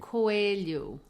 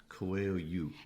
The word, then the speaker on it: Coelho: Coelho. Coelho. And that means rabbit, by the way. Okay. Yes, I think a lot of people would not know that. Coelho.